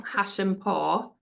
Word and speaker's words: Hashempour: Now I'll try and pronounce Beeta's last name, Hashempour.